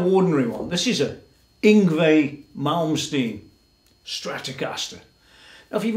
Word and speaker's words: Yngwie: So you might want to do that, but there's a bit of a problem with Yngwie, or Yngwie, if you say it wrong.